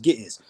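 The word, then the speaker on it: Ge'ez: It's pronounced Gittiz.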